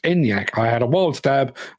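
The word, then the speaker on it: Enyaq: life is death and apparently yes it is pronounced enyak I had a wild stab and my wild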